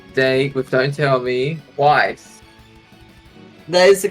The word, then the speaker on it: Weiss: Yes, and when we last left off, hey Krogia, David is going on a date with Don't Tell Me, Weiss. That is the correct way to pronounce it, but I don't think we have any dates yet.